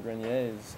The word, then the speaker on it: Grenier: are a couple adrian grenier's out there in the world so maybe there's another really yeah with a different spelling or something but you pronounce yours grenier the french pronunciation and melissa sabrina is